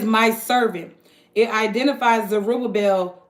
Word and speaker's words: Zerubbabel: It's pronounced Shel. Zerubbabel. So, oh Zerubbabel, my servant and son of Chatiel, saith the